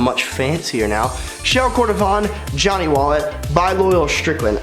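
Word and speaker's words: shell cordovan: whole time I think I've been saying show cordovan definitely saying that wrong these show core vibe sound much fancier now shell Kordofan Johnny wallet by bolillo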